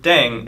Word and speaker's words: 땡: The pronunciation of 땡 is similar to thang, which is the slang of thing in English.